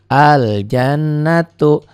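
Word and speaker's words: الجنة: begitupun ini Al jannatullah dibaca Kenapa dibaca Karena setelah alif lam bertemu huruf Qomariah itu Jim Al jannatu begitupun alkarimmu alaminya dibaca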